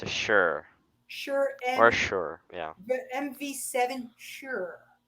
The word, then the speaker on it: Shure: It's a Shure.